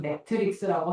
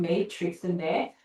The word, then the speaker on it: Matrix: 우리말로는 매트릭스라고 하고 실제 영어 발음은 메이트릭스인데 내가 알기로 쓰니까 똑갈이 나왔어요.